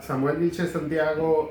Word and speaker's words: Samuel Vilchez Santiago: Are we pronouncing it right? Yeah, Samuel Vilchez Santiago is someone who's committed to this community.